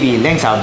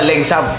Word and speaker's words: Laengsaab: Lengsab. Parang laeng, no? Pero ba ang basa Lengsab? Lengsab yung pronunciation niya.